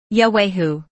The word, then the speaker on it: Yahwahu: should be spelled yahwahu the first H sound following y a should be clearly pronounced as should the last H in Hu for proper pronunciation The Sounds should be separated as follows yahwehoo hwe should not be